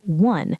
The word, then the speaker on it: one: We say a one-way street because one sounds like one. It has a W sound at the start.